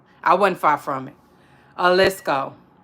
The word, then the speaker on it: Jalisco: Jalisco. I was saying Jalisco, but I wasn't far from it. Jalisco, right? Jalisco. Because there I think the J is like silent and whatnot, if I'm not mistaken.